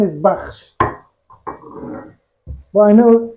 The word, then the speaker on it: bakhsh: Now, the name of this food is, traditional name is baksh. But I know how difficult it is for an English speaker to pronounce baksh.